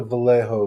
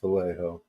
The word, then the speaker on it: Vallejo: Go look at the Vallejo ones. You know, it's not pronounced Vallejo. Is it not? No. Vallejo. Spanish, isn't it? Yeah, it's Spanish.